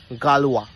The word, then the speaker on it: Galois: একজন গণিতজ্ঞ যার নাম গালওয়া। স্পেলিংটা খুব অদ্ভুত ছিল, GALIOS এরকম কি একটা, বাট উচ্চারণ হতো গালওয়া বলে।